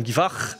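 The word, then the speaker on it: Guivarc'h: Ok, alors Olivier, tu peux peut-être nous dire, c'est quoi la prononciation correcte ? Stéphane Guivarch ou Stéphane Guivard ? Moi, je le prononçais Stéphane Guivarch. Ok, à la française du coup, parce qu'apparemment les Bretons disent Stéphane Guivard.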